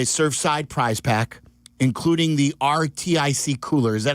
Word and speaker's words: RTIC: Grand Prize winner will get a Surfside prize pack, including the RTIC cooler. Is that how you say it? Or Arctic. Arctic.